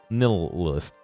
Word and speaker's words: nihilist: I said it right, okay. The H throws me off. Nihilist.